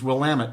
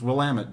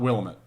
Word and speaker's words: Willamette: So Willamette is Willamette, and the way you remember it is, it's Willamette, damn it. It's Willamette, damn it. Right, not Willamette. Even though I think it should be pronounced Willamette.